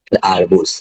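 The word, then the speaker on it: арбуз: আর বু, আর জেতে ব্যবহারিক ক্ষেত্রে জ, আরবুজ, আরবুজ অর্থ তরমুজ। একটা দেখানো হয়েছে, এই আঙ্গিকে আরো 10টা রয়েছে, এগুলো উচ্চারণ করতে হবে।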